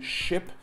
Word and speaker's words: ship: The difference between ship and sheep. Yes, that is a short I sound, that is that's ship, And the E, the double E, is a long E sound.